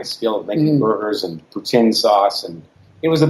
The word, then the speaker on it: poutine: So, you mentioned, I'm going to say it wrong, poutine?